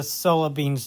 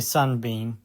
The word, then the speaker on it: Sun-Bean: Also, apparently I got uh Solar Bean's name wrong. It's actually His name is actually Sun-Bean.